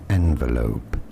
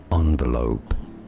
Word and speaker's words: envelope: as well is as envelope. Thank you. Stress on that first syllable. Now the second way of pronouncing it, which is also rather common, especially in the US, is as envelope, or envelope.